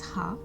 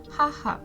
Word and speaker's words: は: You can ask me that this is also an ha. Then why are you pronouncing it as a wa? So in Japanese language this ha is sounds like w.